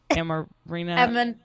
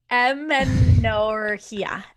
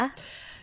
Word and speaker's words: amenorrhea: post pill am actually don't know how to pronounce that word. Amarina. Amenorrhea. Yep, that. Amenorrhea.